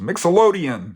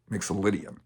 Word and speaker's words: Mixolydian: just a name it's a big name easily mispronounced Mixel odian no no no mixian so the G Mixel indan scale is a